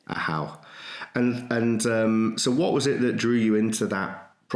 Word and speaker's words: AHU: Firstly, did I pronounce it right? And did I describe it correctly? Yes, AHU. Yes, that's right. AHU.